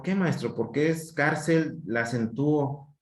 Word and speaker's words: cárcel: Por ejemplo, cárcel. Ya, son dos sílabas. La última sílaba es el. ¿Sí? Por lo tanto, esta es la que está tildeada. Y esa es la sílaba de mayor intensidad. Cárcel. Termina en L, la tildeo. ¿Sí? Cárcel. Termina en L, le pongo tilde.